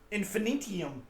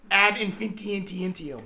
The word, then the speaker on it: ad infinitum: Infinitium. Ad infinitum. So ad infinitum. Yeah. As far as I'm losing the syllables, he's gaining more.